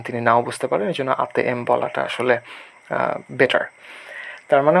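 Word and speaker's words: ATM: যে অক্ষরগুলো বা রোমান অক্ষরগুলো এগুলোকে ওরা ভিন্নভাবে উচ্চারণ করে। হয়তো এটিএম না বলে ইন্দোনেশিয়ানরে বলে আতে এম হ্যা এখানেও ইন্দোনেশিয়ানরা মূলত আতে এম বলবে আপনি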